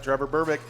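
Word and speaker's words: Trevor Berbick: you say his name yeah yep that's right trevor burbick not a great boxer trevor berwick and uh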